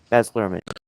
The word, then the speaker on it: Baz Luhrmann: Baz Luhrmann.